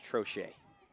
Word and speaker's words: Trochet: lead for minola and I was saying her last name wrong it's trochet infraction on the DC